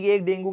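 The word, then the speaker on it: dengue: डेंगू basically मच्छर से होता है, डेंगी भी बोलते हैं आजकल, प्रोनाउंसिएशन इसकी डेंगी भी हो गई है, डेंगू भी बोल सकते हो।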